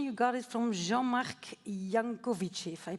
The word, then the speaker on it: Jancovici: All right, and then your inspiration, you got it from Jean-Marc Jancovici, if I pronounce it correctly. Jancovici.